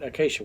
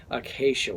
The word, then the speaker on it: acacia: That's how you say it, acacia wood. All right. Acacia wood. That's the way you say it. I have said this like every different way, but it's acacia wood.